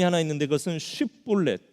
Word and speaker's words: 쉽볼렛: 오늘 이 에브라임 지파가 못하는 발음이 하나 있는데 그것은 쉽볼렛, 이 쉬라는 발음을 잘 못했던 것 같습니다. 그래서 에브라임 사람인지 아닌지 확인을 하려면 쉽볼렛이라고 해보면 이 사람들이 쉽볼렛을 못하고 시볼렛 이럽니다.